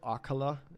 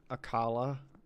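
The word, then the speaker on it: Akkala: in age of calamity they finally revealed that it's called akula and not akala i've been saying akala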